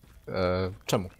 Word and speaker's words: czemu: “Czemu.” Czemu.